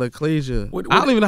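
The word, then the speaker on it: achalasia: are you suffering from a medical condition called eclasia how you pronounce it yeah it's called ecclesia i don't even know how to spell it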